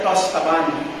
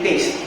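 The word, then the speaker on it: tastevin: This is the tostaban. Sa English, ang kanyang spelling is taste vin. Sa French, if you spell them or if you pronounce them, it's tostaban. Toast. Hindi taste. Tostaban. Yung vin is van.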